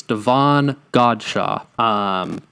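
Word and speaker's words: Davon Godchaux: I've heard a lot of people mispronounce the name. It's Devon Godshaw.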